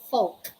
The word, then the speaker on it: folk: say we say cud we don't say fall we say folk we don't say yo